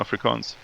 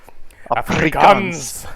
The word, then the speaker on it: Afrikaans: Xhosa, and English and Afrikaans. And I'm not even pronouncing them correctly, but Well, let me try. those were the main. Let me try. Afrikaans. Afrikaans. Afrikaans. Yeah. Afrikaans. You gotta roll the R, Yeah.